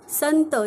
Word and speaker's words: संत: तो शब्दात सुरुवातीला आहे स वरती अनुस्वार आहे संत ज्यावेळी आपण बोलतो त्यावेळी अन असा उच्चार होतो अनुस्वारला इंग्लिश मध्ये एम